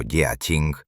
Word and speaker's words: Jiaqing: El inmenso y desesperado esfuerzo militar del emperador Jiaqing, pronunciado Jia-ching, se materializó en una de las flotas punitivas más formidables de toda la historia asiática.